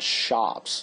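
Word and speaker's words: scop: it was spread by the so-called shops that's how we pronounce that word s c o PS the shops who recited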